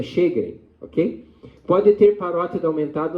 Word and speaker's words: Sjögren: A pronúncia é Sjögren. Na minha época a gente falava Jogrin, mas não tem nada disso, é Sjögren, ok?